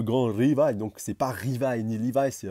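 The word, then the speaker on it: Rivaille: Rivail ni liva c'est Rivail Rivail voilà vous roulez un petit peu le a et puis vous vous vous mettez petit peu de l sur la fin ça c'est la bonne prononciation parce que le r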